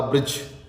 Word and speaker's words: ब्रज: ये ब्रिज कौन सा? ब्री, री की मात्रा वाला ब्रिज नहीं भाई, ये है ब्रज। बै के नीचे रै, ब्रज, वो ब्रज है।